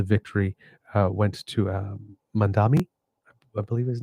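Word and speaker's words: Mamdani: Yes, Mandani.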